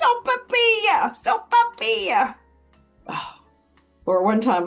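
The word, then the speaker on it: sopaipilla: Once I went out to lunch with a friend and she said, Sopapilia, Sopapilia, Sopapilia. Finally, I just snapped. I said, it's Sopapilia, Sopapilia.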